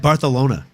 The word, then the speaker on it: Barcelona: Kudos to you for saying it right, kid. You said Bartholona.